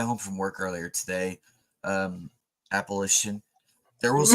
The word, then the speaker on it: Appalachia: Oh, and I will tell you how you say it is imagine you're holding an apple and you're going to throw an apple at you.